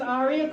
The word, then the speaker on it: Arya: My name is Arya. Yes, that is pronounced Arya.